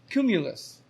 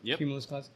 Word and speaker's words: Kumulus: ceo of a tunisian startup called cumulus which makes sense like clouds cumulus company has developed the device built with the k yeah spelled with a k uh that mimics the